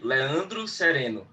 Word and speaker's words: Leandro Sereno: Okay, in Portuguese we say Leandro Sereno.